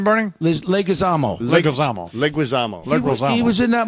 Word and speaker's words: Leguizamo: How do you pronounce John it? Leguizamo.